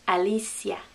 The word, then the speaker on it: Alicia: english name we'd say alicia hey that's my sister's name alicia but the spanish pronunciation would have each vowel letter making a sound alicia alicia alicia you try it alicia oh next